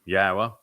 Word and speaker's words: Yahowah: is pronounced as an o sound as it is in Torah as it is in shalom and since the Torah is where we're reading these narratives from yahwah he explained in the